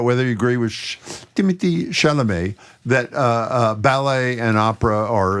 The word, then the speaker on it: Chalamet: By the way, I want to make sure we're pronouncing Chalamet properly. Do you have any advice for us? Anybody back there? Timothy Chalamet.